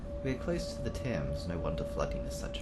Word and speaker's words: Thames: We are close to the Thames, no wonder flooding is such a risk. I always pronounced it as Thames, not Thames.